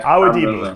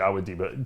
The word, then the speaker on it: Awodibu: Awodibu. I got you, Awodibu. Sid pronounces your name right all the time on our show.